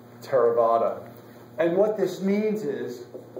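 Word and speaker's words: Theravada: not an R um it's pronounced as if there's no h there terada and what this means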